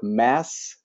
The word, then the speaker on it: Mats: I heard from my British colleague that I should say that it's pronounced like the word mass, Mass.